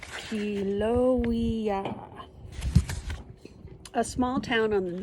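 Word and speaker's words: Haleiwa: in Kiel oh yeah it's pronounced helo II a small town on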